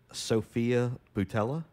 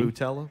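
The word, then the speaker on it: Sofia Boutella: Sophia Boutella? Is that how you say it? Like Nutella, but with a B? Boutella?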